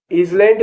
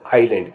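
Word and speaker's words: island: कहेंगे आई एस एल एन ए एन डी इज लैंड नहीं कहेंगे इसको आइलैंड कहेंगे डी ओ यू बी ई T doubt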